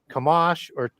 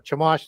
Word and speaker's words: Chemosh: So you have in Moab, Baal is called Chemosh or Chemosh, depending on how you want to pronounce that.